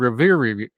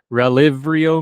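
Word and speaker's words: Relyvrio: AMX0035, is now called Revivir. Look, I can't pronounce it. It's an R with a Y and a V and an RRI, and you know us hillbillies can't roll our R's, so just trust me.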